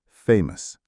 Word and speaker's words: famous: The stress for both words is on the first syllable. Famous.